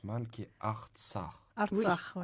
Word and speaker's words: Artsakh: Alors, il y a un nom en arménien, vous me pardonnez si je le prononce mal, qui est Artsakh. Artsakh, oui. Artsakh.